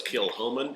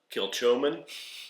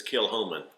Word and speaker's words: Kilchoman: say I do know it's kill homman it looks like kill chman it's kill Homan the CH is silent credit to you because